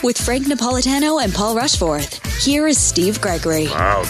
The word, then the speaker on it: Rushforth: It is actually pronounced Rushforth, Rushforth, Rushforth.